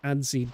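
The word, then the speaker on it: adze: I know it's spelled funny, but it's called ads. Ads. It's spelled very weird.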